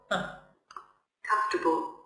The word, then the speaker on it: comfortable: Comfortable. What's this again? Comfortable. Again? Comfortable. Oh, what's this? Comfortable. R is silent. So here, no R.